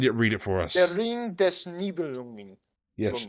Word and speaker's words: Der Ring des Nibelungen: I'm going off of vague memory of how it's spelled. Once you Okay. find it, read it for us. Der Ring des Nibelungen.